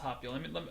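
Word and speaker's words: 発表: This is pronounced happyo.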